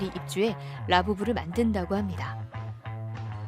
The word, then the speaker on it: Labubu: 아참, 라부부 이름에서 라부는 영어 러브와 발음이 같습니다.